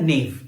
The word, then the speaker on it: gnaw: इसको हम प्रोनाउंसिएट करते एज अ नेव.